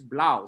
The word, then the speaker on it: Blau: whoever it is, Blau, it's Blau. Sorry, it's Blau. But it's spelled like this, 3 Lao. I thought it was, is this a Chinese dude? Like 3 Lao? Oh, sorry, it's not. It's Blau. So, when people want to